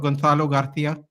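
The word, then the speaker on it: Gonzalo García: But things changed after arrival of Gonzalo Garcia.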